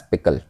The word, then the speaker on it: pickle: And the extension is PKL and it is pronounced as pickle.